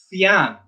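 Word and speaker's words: phian: like English and French, a PH is pronounced like an F. So fian, chach.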